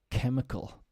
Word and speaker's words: chemical: sometimes is CH but in this case it sounds like a k chemical mechanical psychiatry ache this